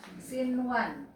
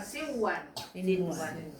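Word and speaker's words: صنوان: Jadi bacanya bukan siwan. Sinwan.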